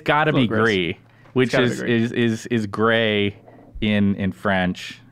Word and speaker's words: Gris: Spelled G-R-I-S, but you insist pronounced Gris because it's gray.